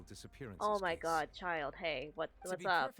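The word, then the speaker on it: Childe: Child or childa, it's child. Believe it or not, it's actually pronounced child.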